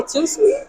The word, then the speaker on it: Tout Suite: well today we're at how do you say too sweet too sweet too sweet oh I saw I